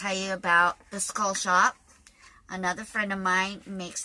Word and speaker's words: Shoppe: But his website is called the Skull Shop, and shop is spelled S-H-O-P-P-E.